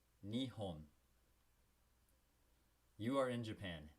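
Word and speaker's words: 日本: Japan to the Japanese is pronounced Nihon. All right? Remember, you got to speak it out loud with me. Repeat after me. Nihon. Nihon. You are in Japan. Nihon.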